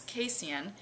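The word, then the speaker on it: casein: which may not be and that's casan it's spelled c a s i n it is the protein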